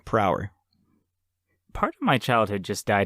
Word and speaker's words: Prower: It's spelled Prower, per hour.